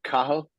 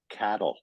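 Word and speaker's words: Cathal: um is it's pronounced kahal it's spelled ca t h l you don't pronounce the T and it's pronounced kah when I came to can the kids at school were calling me Cattle because they they were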